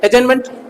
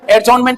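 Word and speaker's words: adjournment: एक तरीका सर स्थगन से, इसको कहते हैं एडजर्नमेंट, टी साइलेंट रहता है, एडजॉर्नमेंट नहीं होता है, एडजर्नमेंट, कुछ समय के लिए निलंबित हो जाती है बैठक।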